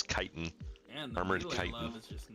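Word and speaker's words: chitin: they would call it they would call this item armored chitten for those of you that are unaware the the pronunciation is kiten armored is just not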